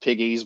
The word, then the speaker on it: Pegues: And I am presuming it is pronounced Piggies because there is a creek near the area I live in that is pronounced Piggies, and that's how I've always pronounced it.